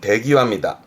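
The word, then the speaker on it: 出際: 그래서 발음은 대기와입니다.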